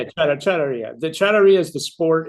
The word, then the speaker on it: charrería: Well, as a Texan with my best Spanish, it's charrería. I was close. You're very close, very close. No, Okay. it's charrería.